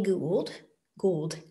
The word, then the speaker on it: Gould: Gould, I should say it right, G-O-U-L-D, they put forth this theory of evolution, of evolutionary pace rate, called punctuated equilibrium.